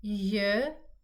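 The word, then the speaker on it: ž: then J, Z, I, J, K. So here you can say that this letter Z with an accent on top of it makes the sound J, and just Z is Z.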